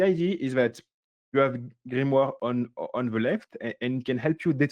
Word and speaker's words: grimoire: a to that's called grimoire grimoire which is very hard to pronounce for me at least in English so I will just say it the the French way and the IDE is